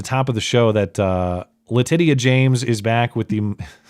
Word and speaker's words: Letitia: That is how you pronounce her name. Everyone knows it. Look how it's spelled.